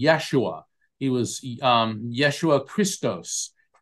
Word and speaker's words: Yeshua: and it was and his name in in Aramaic or or the closest we could pronounce would be Yeshua he was um Yeshua